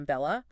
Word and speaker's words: Bella: busy podcast with Christina Bella oh I've heard of Christina Bella yeah so Christine it rhymes with a fella in case you're trying